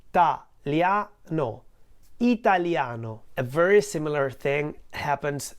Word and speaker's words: Italiano: there are five syllables Italiano whereas in Italian the word Italiano has four syllables no what happens here is that the two vowels I and a in the middle Italia no are actually part of what we call a diphthong in Italian ditongo so they are not in two different syllables they are in the same syllable no whereas in the